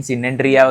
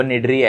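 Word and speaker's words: Cnidaria: लेकिन सिनेट्रिया वगैरह ऐसा कुछ भी मत बोलो। वो निड्रिया है। ओके? नहीं निड्रिया बोलते हैं। ओके? सो यहां पर देखो सी इज़ अ साइलेंट हियर।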